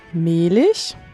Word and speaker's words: Mehlich: how beautiful their names are when they are pronounced as they should be uh my name is Mish and my name is adelene odier joining the